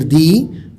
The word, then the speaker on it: the: طرح آرٹیکل دا کا ویک تلفظ دال زبر دا یا دال زیر دی، جبکہ اسٹرانگ تلفظ دال یا زیر دی ہے۔ انگریزی میں بات چیت